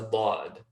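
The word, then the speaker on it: ض: it, connect towards it, have complete pressure, hold it there as you say the start of the letter, build up a little bit of pressure, and then that pressure releases as you pronounce the letter Dad.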